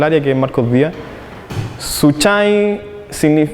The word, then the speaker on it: Suchai: que es Marcos Díaz suai viene del mum que se pronuncia suyai y significa Esperanza Entonces el nombre a